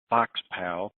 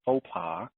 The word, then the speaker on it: faux pas: me for yesterday's little as i like to call it fox pal and that just irritates the crap out of my wife when it should be pronounced a social faux pas and that's exactly what